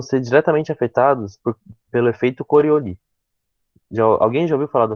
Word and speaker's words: Coriolis: É Coriolis. Se escreve Coriolis, pode ser chamado de Coriolis também, mas a gente chama de Coriolis porque é um nome francês.